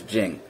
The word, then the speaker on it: 勁: The neutral jinn, or the neutral jing, however we want to put it, there's two pronunciations for the word jinn. There's jinn and there's jing. They can be used back and forth.